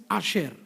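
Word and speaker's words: אשר: The Hebrew word for the blessed here is Asher, spelt with Aleph, Shin and Resh.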